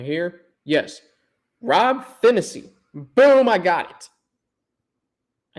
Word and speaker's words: Phinisee: david to julius so i'm going through the pronunciation guide up right here yes rob finney boom i got it i knew i was